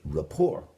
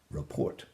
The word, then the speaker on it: rapport: You might wish your fellow diner bon appetit, and by so doing, hopefully, you would build rapport with her, not report.